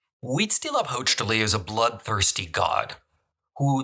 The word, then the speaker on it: Huitzilopochtli: One is pronounced Huitzilopochtli. Huitzilopochtli is a bloodthirsty god who the Mexica believed ruled from Tenochtitlan before they arrived.